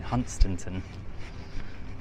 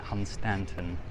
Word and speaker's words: Hunstanton: I just realised I've been saying it wrong all along. Ever since I was little, I've been saying Hunstanton. But everyone's calling it Hunstanton, so I've got to remind myself to say that.